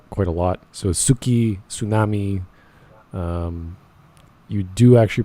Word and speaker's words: tsunami: hard to pronounce things apparently the t in tsunami isn't silent uh well you know